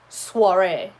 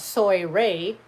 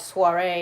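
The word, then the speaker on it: soirée: but you know that in french oh i has a wah sound so you wouldn't know that that's not soy rey or soyre or suari sorry it could be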